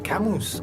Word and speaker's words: Camus: usted aspira a ser debe de aprender a pronunciar camus que es en francés si no me falla